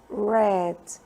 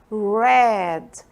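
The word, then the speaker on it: read: detalhe tá a forma a pronúncia do verbo no passado do verbo ler e fica como se fosse a pronúncia da cor vermelha Red Tudo bem então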